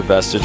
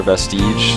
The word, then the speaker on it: Vestige: were talking about whether this map is belare vestage or belare Vestige yeah it just made me laugh think about